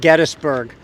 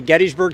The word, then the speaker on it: Gettysburg: It's properly pronounced Gettysburg. Many of us like, including myself, the way Gettysburg sounds, and we simply say Gettysburg.